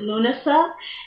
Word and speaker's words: Lughnasa: next holiday is well Lughnasa what some people pronounce it luna stuff and that is August